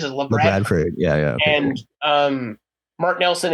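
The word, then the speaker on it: Labradford: In fact, I didn't actually know how to say that. That's how they say it. That's how it is. La Bradford.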